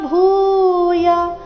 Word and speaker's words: ಭೂಯ: ಕೃತ್ವ ವ ದೀರ್ಘ ನಮಸ್ಕೃತ್ವ ಭೂಯ ಭೂ ಮಹಾಪ್ರಾಣ ದೀರ್ಘ ಯ ರಸ್ವ ನಮಸ್ಕೃತ್ವ ಭೂಯ ಏವಾಹ ಕೃಷ್ಣಂ